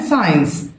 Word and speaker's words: science: other words كلمات أخرى رموز أو علامات science، هنا الجيم سايلنت مش بنطقها بكتبها ما بنطقهاش. رموز او علامات ساينس ساينس.